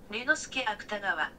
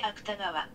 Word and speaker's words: Ryunosuke Akutagawa: Ryunosuke Akutagawa. Ryunosuke Akutagawa. Ryunosuke Akutagawa.